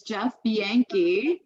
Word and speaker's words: Bianchi: It is not the way it reads, okay? It's Jeff Bianchi.